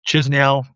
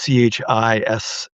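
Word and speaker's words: Chișinău: There's Chisinau. I'm not even sure I'm pronouncing it properly, but it's Chisiau, Chisinau.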